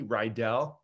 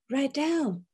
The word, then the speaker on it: Rydall: So nice to have you here, Rydall. Welcome. Yeah, it's great to be with you. My last name, just so you know, is pronounced like an E, Rydall. Rydall. As if it was an E.